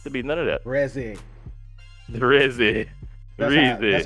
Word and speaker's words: Reze: pronounced Reze. I'm saying Reese. Reze. I would accept. I got Reze. power. I got the It's power not to. Reese, You know what I'm bruh. saying? It's not Reese.